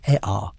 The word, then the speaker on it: Ea: In Akkadian, the Semitic language that eventually dominated Mesopotamia, Enki became Ea, pronounced Ea, the same god, same domain, same personality, but wearing a new linguistic coat.